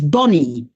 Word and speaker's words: Bonnie: The diminutive of my name is Bonnie. Bonnie, B-O-N-N-I-E, cioè B-O-N-N-I-E, that's my name. Everybody says Bonnie. No, it's Bonnie. It's pronounced like one N.